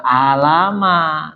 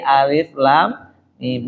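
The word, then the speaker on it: الم: Kita enggak belajar tuh alama bacanya kan begitu kan ya. Oh, dikasih tahu bukan alama tapi alif lam mim dirubah.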